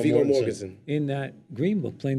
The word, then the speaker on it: Viggo Mortensen: Viggo Mortensen.